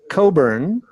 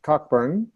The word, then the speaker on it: Cockburn: a real treat so my name is Alastair Coburn but I brought my drink here my name is spelled this way so people think it's pronounced Cockburn but these people who make this very nice